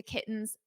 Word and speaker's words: kittens: In American English, when we have a T or two T's between vowels, we pronounce the T's as a very soft D.